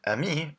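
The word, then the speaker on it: amie: But the pronunciation is the same.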